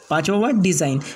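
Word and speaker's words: design: इसके बाद का नेक्स्ट रूल है, जब जी के बाद एन आ जाए तो जी साइलेंट होगा। यानी जी के बाद फ़ौरन बाद एन आएगा तो जी साइलेंट हो जाएगा। जैसे पहला वर्ड है फॉरेन, पहला वर्ड फॉरेन, दूसरा वर्ड साइन, तीसरा वर्ड रिज़ाइन, चौथा वर्ड अलाइनमेंट, फिर उसके बाद में पाँचवा वर्ड है डिज़ाइन, इसके बाद का नवा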